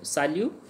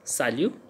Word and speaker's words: salut: So here sa liu, sa liu, sa liu means hi. So sa liu, T is silent, we can't say salute, so it's sa liu.